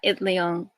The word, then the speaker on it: Itliong: know how to say his last name, Larry Itliong? Yeah, Itliong.